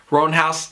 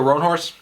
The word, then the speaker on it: Roanhorse: sixth world series by rebecca roan house i think that's how you pronounce it sorry wrong horse rebecca roanhorse you guys might be